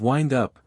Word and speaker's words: wind up: fatigue party carrying water to have wind up to rhyme with pinned up to be uneasy on